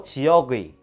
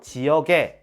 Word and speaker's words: 지역의: 것도 허용한다고 했었죠 그럼 원칙대로 지역의 이렇게 발음해도 되고 지역에 이렇게 발음해도 되겠죠 근데 조금 이상합니다 지역의 같은